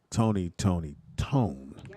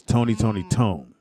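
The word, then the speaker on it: Tony! Toni! Toné!: say even though you from oakland is actually pronounced tony tony tone oakland said no it's pronounced tone but it's not it's tony tony tone for those who don't know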